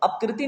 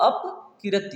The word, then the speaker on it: अपकीर्ति: बी है अपकीर्ति, और सी है अपकीर्ति, और अपकृति नहीं है, ये अपकीर्ति है।